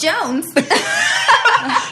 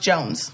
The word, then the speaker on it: Siren: It's Jones. You pronounce Siren. It's pronounced Jones. Yes, it's pronounced Jones.